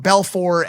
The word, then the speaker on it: Belfort: jordan belfort he's jewish there's no silent t he's not from france like a french name so he calls him jordan belfor i knew he was